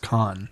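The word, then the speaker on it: Cannes: you know is that it's pronounced con yes that's cool though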